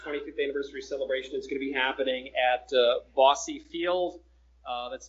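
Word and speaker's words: Bosse Field: It's going to be happening at Bossy Field. That's spelled B-O-S-S-E.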